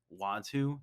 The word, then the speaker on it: Uatu: not just the watchers but watu that's his name in case you didn't know uh i actually don't love his name uh it's spelt uatu uh the watcher watch